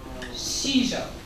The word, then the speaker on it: sijo: and shijo is spelled like this but it's pronounced like this shijo and so um i'm going to pass out